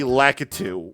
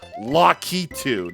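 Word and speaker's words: Lakitu: This is where we get the lacatu, but apparently Nintendo's trying to do like revisionist history or whatever it is.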